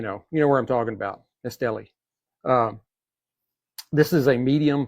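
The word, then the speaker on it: Estelí: Cuban cigars yesterday and they were not pronouncing Estelli exactly the way I do. Uh but anyway, you know, you know where I'm talking about. Estelli.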